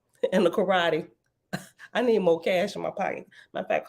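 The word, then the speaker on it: Moqesh: trap and oh oh I pronounced it wrong both ways and is pronounced more cash m o m o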